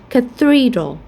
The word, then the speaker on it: cathedral: For example, in this case, we're going to pronounce it as cathedral. So we stress in the second syllable.